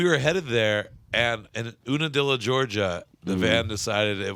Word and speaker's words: Unadilla: so we were headed there, and in Unadilla, Georgia, the van decided it was what? Is it pronounced Una?